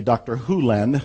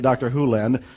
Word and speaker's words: Hew Len: world and it's actually dr hulen i've shortened it from e to dr len but it's actually dr houlen if you want to say his name correctly in dr hulen's world he says if